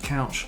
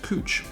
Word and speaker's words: Couch: there should be pronounced couch this is pronounced cooch so there's definitely some